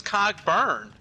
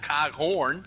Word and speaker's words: Cogburn: His name is Cogburn, not Coghorn.